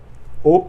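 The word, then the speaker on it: を: O, donc là, on revient avec le même mot, le même petit mot. O, pareil, il ne se prononce pas wo alors que c'est marqué wo, il se prononce o.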